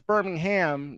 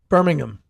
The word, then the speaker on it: Birmingham: proper pronunciation right is the H is practically silent Birmingham Birmingham yes Birmingham yes